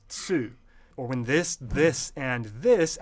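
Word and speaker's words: つ: Like when the T plus E syllable is actually chi, and then the T plus U syllable is tsu.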